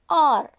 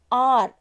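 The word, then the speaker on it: hour: R. Here H-O-U-R, R. We have to pronounce R only. H here silent.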